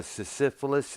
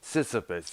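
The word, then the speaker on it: Sysyphus: like uh parts one two or three uh syphilis i think if that's what it's pronounced sisyphus yeah that features richard wright you know the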